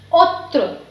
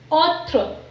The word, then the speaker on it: autre: Second example is autre, autre, autre.